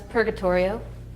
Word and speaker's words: Purgatorio: do you say purgatory it's just like that it's purgatorio like like the dante uh divine comedy you have purgatorio paradisio